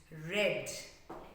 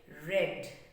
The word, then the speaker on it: read: is same rad but the pronunciation is different it's red in past tense we say red okay even in past